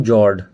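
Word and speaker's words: fjord: तो ये एक यू शेप वैली थी जिसके अंदर सी का वाटर आ गया और इसी को बोलते हैं हम जॉर्ड। इसमें एफ साइलेंट है। ठीक है? जॉर्ड बोलते हैं।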